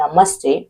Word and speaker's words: namaste: Let's break down the pronunciation. It says na, ma, sa, te. One more. Na, ma, sa, te. Namaste. Namaste.